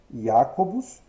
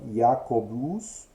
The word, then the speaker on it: Jacobus: Então, Jacobus vai se tornar Jacobus, né? Com a segunda sílaba notavelmente mais breve que a primeira e um pouco mais breve que a final.